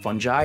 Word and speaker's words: fungi: It's pronounced fungi, and it turns out fungi can actually be really useful in solving some of the world's biggest environmental problems.